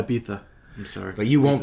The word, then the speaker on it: Ibiza: I think I would send you personally to Ibiza. Oh God. I might not come back. It's pronounced Ibiza. Yeah, Ibiza.